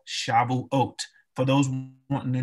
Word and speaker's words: Shavuot: of weeks also called shavuot for those who want to know how to spell shabble oat is there on the screen for you again that's the hebrew pronunciation of the feast of weeks now the feast of